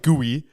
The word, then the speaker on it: Gui: Gui? G-U-I. like Rui? Like Rui. Yeah, I guess.